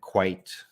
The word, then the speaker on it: quite: spelling is very different quiet rhymes with uh diet and quite fight uh may function yes